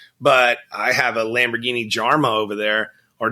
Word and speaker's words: Jarama: I mean, sure, everybody knows the Countach, but I have a Lamborghini Jarma over there, or Jarama, I believe is how it's pronounced.